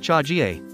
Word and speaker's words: chaga: The Russian term for mushroom, zaga, which comes from the word for fungus, is the source of the name chaga, pronounced chagie.